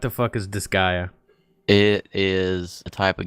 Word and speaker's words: Disgaea: on the list here this guy this is this Gaia yes well what the is Disgaea it is a type of game that I